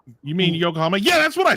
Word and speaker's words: Yokohama: I said I said I said something really stupid when I tried to pronounce it and y'all were like, "You mean Yokohama?"